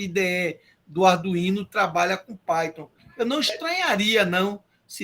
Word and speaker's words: Python: Eu só sei que a pronúncia é Python porque vocês dizem. Senão eu ia dizer Python.